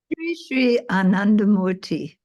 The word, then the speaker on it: Sri Anandamurti: Sri Anandamurti.